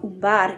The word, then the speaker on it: Umbar: dans Narvi ou Esgaroth, prononcer le U en U, comme dans Umbar et Durin, prononcer le CH et